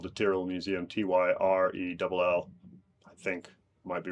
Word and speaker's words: Tyrrell Museum: and it's called the Tyrrell Museum, Tyrell. I think might be wrong with the number of R's, but go with that. And it apparently rhymes with squirrel, and not Tyrell or Tyrell or anything like that.